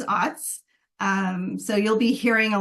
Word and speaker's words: OWTS: The acronym OWTS is even pronounced in different ways. It's OWTS, OOTS, OUTS, OATS. I've heard lots. I pronounce it as OWTS.